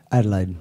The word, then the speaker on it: Adelaide: brothers in the band from Adelaide am I pronouncing it right Adelaide yeah that's good in Australia in the south